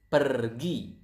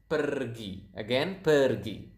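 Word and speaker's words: pergi: So, as you can see here, we pronounce the R quite clearly. So, it is kind of like Spanish. If you if you guys speak Spanish out there, I think you will notice that Indonesian pronounce the R quite similar to to this to to to the Spanish language.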